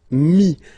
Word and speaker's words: mis: And then mettre, to put, so e-t-t-r-e, will give you this is, mi. Same thing here, final s is not pronounced. Mi, okay.